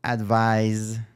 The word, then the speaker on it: advise: just say advice and the verb is to advise with a z sound and you spell it with with an S so this is the